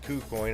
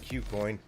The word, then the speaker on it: KuCoin: logged on to cuecoin I'm slowly starting to call it coo coin instead of Q coin because that's how I hear other people pronouncing it I'm on it I